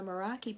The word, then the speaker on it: Meraki: can find it on Facebook hopefully on the Meraki page and that's how you pronounce that for those of you who don't